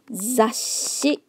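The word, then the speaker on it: 雑誌: Magazine, zashi. Don't forget the small z in between to indicate the pause in the sound.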